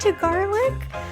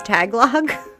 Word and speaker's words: Tagalog: I thought you said to garlic. Also, I did not know that was how that's pronounced. I've always thought it was tagalog.